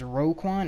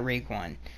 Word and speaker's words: Roquan: I think how you pronounce his name is Roquan, or it's not Raekwon.